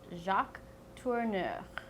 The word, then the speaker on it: Jacques Tourneur: The next one is French, and it's a little difficult with the R's, and unfortunately he has two of them, and he's the director of Cat People and I Walked with a Zombie. His name is Jacques Tourneur.